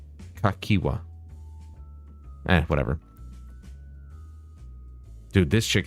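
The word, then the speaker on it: Cahciua: saying it wrong earlier I think I was calling you kahika no kakwa ah whatever dude this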